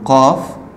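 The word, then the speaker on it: قاف: Et la lettre suivante, c'est le qaf. Qaf, c'est comme le fa, mais avec deux points. Qaf.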